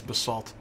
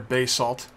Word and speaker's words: basalt: this that's just a that's Basalt or Bas salt different people uh pronounce it different ways I kind of am impartial to Basalt but B salt works just as well all right here's another